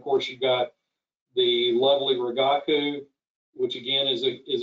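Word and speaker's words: Rigaku: and then of course you've got the lovely ragaku which again is a is a good instrument um it's important to know that the proper pronunciation is ragaku because if you try to order samples and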